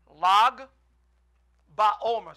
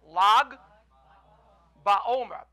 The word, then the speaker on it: Lag BaOmer: Can someone try to pronounce it? It's in English. Lag Baomer. Say that. Lag Baomer.